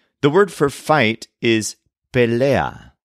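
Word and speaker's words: pelea: and an attack the word for fight is pellea spelled p EA for example my friend and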